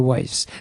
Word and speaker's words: Wise: growth first of all my pronouncing your last name right dr. waste sir dr. Weiss aye-aye sir sorry and